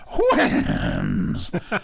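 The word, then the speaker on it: Houyhnhnms: The word Winham is onomatopoeia, so the way you should pronounce it is Winhams.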